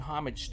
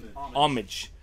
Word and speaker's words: homage: me they're paying homage the H is silent is it homage is it silent H